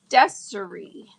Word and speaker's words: Deserie: Oh, I can call you D, but it's pronounced like the first syllable in December. So de Oh, deserie. Deserie. Oh, kind of like desire but deserie.